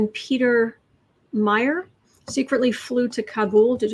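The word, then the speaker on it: Meijer: peter james meyer peter meyer mayor m-e-i-j-e-r if it's dutch the j is silent so i'm going to say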